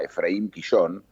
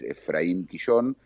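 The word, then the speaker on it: Ephraim Kishon: que se consigue en Buenos Aires, se llama Efraín Quillón. Se escribe Efraín EPH, como en inglés, Efraín Quillón, K-I-S-H-O-N, que fue un escritor humorístico que retrató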